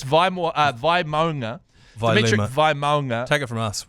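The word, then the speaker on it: Vaimauga: It's Vimonga. It is Vimonga. Y everyone's like Vimuanga. Vga Vmega. Valmega. Valga is my favorite. Vimega. So it's Vimonga.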